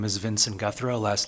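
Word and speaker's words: Guthreau: chair for the record my name is Vincent guthro last name is spelled g-u-t-h-r-e-a-u service is the executive director of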